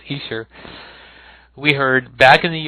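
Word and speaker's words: Esher: the Easter demos, and that's the way it's pronounced now. Somebody in the Beatles News and Information group the other day told me it was Easter, and I kind of looked at it and I didn't believe it, but it's very true. That's how it's pronounced, Easter.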